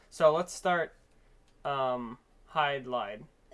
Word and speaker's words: Hydlide: so let's start um hide lied I used to pronounce it hid Li all right so this